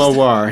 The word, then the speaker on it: Mawar: Yeah, how do you pronounce it first? Mawar.